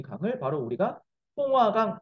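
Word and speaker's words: 松花江: 이런 부여가 있는 이 강, 네, 여기 이 강을 바로 우리가 송화강 또는 중국 발음으로 숭화강이라고 합니다.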